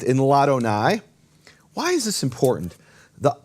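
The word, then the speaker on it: לאדני: La Adonai becomes Ladonai. And what happens is the vowel drops from the aleph, and the aleph is silent.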